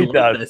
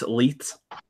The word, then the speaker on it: Leithes: No one can pronounce my name. Don't worry. Oh, Doomcock always says Leith. Doomcock always said Leithus, so I'm like, oh, Leithus.